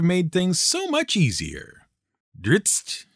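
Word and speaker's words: Drizzt: over the years should have come with a pronunciation guide. It really would have made things so much easier. Dritzt, drist, dritz.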